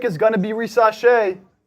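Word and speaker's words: Risacher: going to be race rash is that the correct pronunciation yeah what were you saying racher oh so it's French rash R rash Zachary rash I would go alexar but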